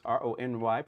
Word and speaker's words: Rony: So my name is Rony, pronounced Rony, pronounced like Roni, like macaroni, and that's my standard introduction.